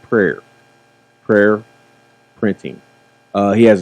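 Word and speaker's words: PWAR: PR w a r printing okay but it's pronounced prayer prayer printing uh he has his own company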